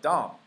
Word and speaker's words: dumb: Dumbass 它这个 D-U-M 它这个 B 是不发音的，这个单词如果是单独念这个单词叫 dumb，叫 dumb 就是